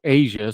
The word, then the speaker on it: Aja: I reached out to Aja pronounced Asia so I was saying it wrong thanks for putting that